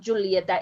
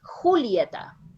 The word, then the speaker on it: Julieta: your pronunciation you said julieta when we are talking in spanish is not julietta it's julieta julieta and there is a